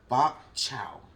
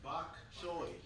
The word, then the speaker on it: bok choy: Bok chow. Victor, how do you pronounce it? Bok chow? Bok chow? It's pronounced bok choy.